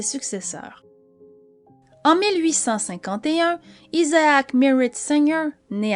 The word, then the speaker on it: Singer: En Europe francophone, on la prononce Singer.